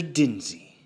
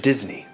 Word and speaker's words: Disney: Dinsey. No. Mr. Disney. If you're going to say it right.